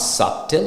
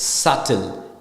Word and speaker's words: subtle: da B pronounce and it's not subtle it's subtle so B is silent so s u t